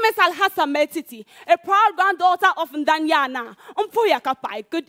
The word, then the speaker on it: Maltiti: name again I want to say it well meti meti you you came strong following very engaging